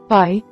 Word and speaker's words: pi: Pi sounds like the p in the English word spot. Note that pi is never aspirated as it is in English.